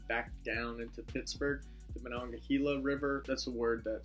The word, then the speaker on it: Monongahela: York and then back down into Pittsburgh the Monongahela River that's a word that students always have trouble pronouncing well the gila starts in West Virginia